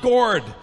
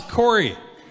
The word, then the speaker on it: Corey: cup and I'm like it's not gourd it's Corey that's not even the